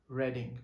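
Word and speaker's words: Reading: तो university of रेडिंग लिखा जाता है आर ई ए डी आई एन जी लेकिन इसको प्रोनाउंस आप करेंगे रेडिंग बिकॉज यह रेडिंग सिटी में है नियर ऑक्सफोर्ड तो यहां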